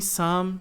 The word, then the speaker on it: some: E depois ele termina em some situations. Então, situations, some, tá? Some. Aprendam a fechar o M. Não é some e nem some, por exemplo, é some situations, tá bom?